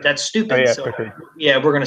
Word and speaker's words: Pickard: They had Calvin Picard. It's actually pronounced Pickard, but that's stupid. Oh, yeah, so Pickard.